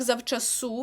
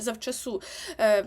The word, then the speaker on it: завчасу: це зав су так завчасу матибе наголос на останньому складі завчасу Бо хочеться сказати завчасу